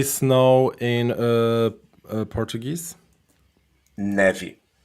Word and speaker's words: neve: Neve. Neve. N-E-E-V. Neve.